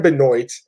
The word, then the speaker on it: Benoit: court Ryan Benoit annoys excuse me not Chris Benoit that's Ryan binoy against Tyson ammo even